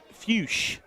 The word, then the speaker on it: Fuchs: I can assure you, Matt, it's definitely not that pronunciation. It's Fuchs. Zach Fuchs.